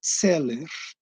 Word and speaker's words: Zeller: que na realidade seria, tem um trema no A, só que eu não utilizo, porque é a maior confusão. A pronúncia seria Zeller, né?